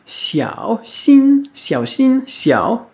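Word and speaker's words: 小心: Le x, on l'a vu donc très récemment, qui se prononce comme un ch, mais plus sifflant, plus chuintant, comme si on faisait un sourire en même temps.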